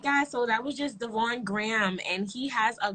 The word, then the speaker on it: Devaugn: smooth all right so thank you so much devon am i saying your name right correct yeah all right how are you pronouncing me armani oh yeah that's easy yeah